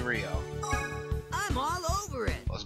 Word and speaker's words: Rio: In the last video I kept calling this man Ray. But his name is most definitely Rio.